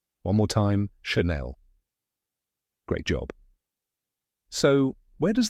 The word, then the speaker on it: Chanel: The first part is Shan, like the word fan. And the second part is Nell, rhyming with bell. Now say it with me. Chanel. One more time, Chanel.